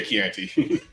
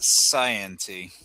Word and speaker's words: Chianti: No, it's actually a Chianti. No, I made some spaghetti a couple days ago. And I figured, yeah, I'll grab a good bottle of wine with it. At least you didn't pronounce it scienty.